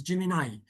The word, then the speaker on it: Gemini: Some people call it Gemini, but actually the correct pronunciation is Gemini.